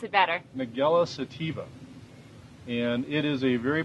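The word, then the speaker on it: Nigella sativa: ahead you said I know you said you pronounce it better mugello sativa and it is a very potent spice and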